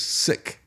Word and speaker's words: PSIC: I guess this could be the PSIC. That'd just be pronounced as sick.